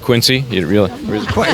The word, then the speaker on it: Quincy: So, so you know it's it's really pronounced Quincy.